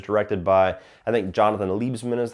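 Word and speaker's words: Liebesman: This is the one that was directed by, I think, Jonathan Liebsman is how you pronounce his name.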